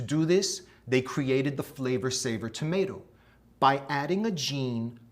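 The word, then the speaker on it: Flavr Savr: That's spelled F-L-A-V-R S-A-V-R, Flavor Saver.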